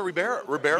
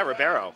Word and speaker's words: Ribeiro: Was it Alfonso Ribeiro? Yes. How do you say his last name? Yeah, Ribeiro.